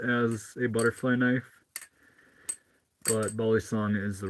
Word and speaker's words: balisong: we doing mustard cat I call it a BAL song yeah yeah and I'm trying to encourage people to SW switch to calling it you know balong the right pronunciation for it rather than balisong that is most common in the US for Flippers to call it I I'm